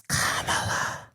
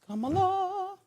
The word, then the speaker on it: Kamala: First of all, it's Kamala. Yeah, it's Kamala.